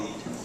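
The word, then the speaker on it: lede: Well, your first paragraph is called the lead. Now it's spelled L-E-D-E, which sounds like it's spelled wrong, but it's actually not.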